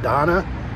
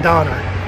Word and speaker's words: Donna: original restaurant is in donna texas something like that not donner donna i'm headed over to